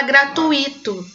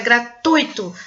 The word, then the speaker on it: gratuito: Porque tem gente que fala gratuito, né? Como se o i fosse a sílaba tônica, mas não, é gratuito. A sílaba tônica é no ui, tá?